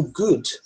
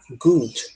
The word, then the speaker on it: good: pronúncia né Vamos lá o good esses dois os a gente pronuncia como se fosse um U mesmo good tá good esse D ele é mudo tá então a gente não deve falar good tá esse D Ele é bem fraquinho né good e a